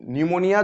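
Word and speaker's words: pneumonia: निमोनिया like आर्गनिज्म तो निमोनिया जो होता है तो निमोनिया का जो पी होता है वो साइलेंट होता है तो इसीलिए क्वेश्चन जो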